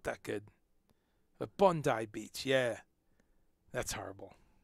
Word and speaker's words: Bondi: outbreak that they've traced in bandai i believe is how you pronounce it i thought it was bondi i've been to bandi beach but i i think i've been told it's bandai yeah mate it's bondi beach my australian accent's not